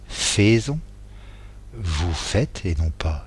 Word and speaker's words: faites: il fait T, nous faisons, alors que ça s'écrit faisons, vous faites et non pas faisez, et ils font ONT.